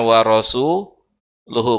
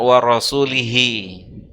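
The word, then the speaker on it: وَرَسُولُهُ: Yang benar bacanya adalah warasuluhu, bukan warasulihi. Kenapa? Karena kalau bacanya warasulihi maknanya adalah Allah berlepas diri dari nabi dan dari orang musyrik.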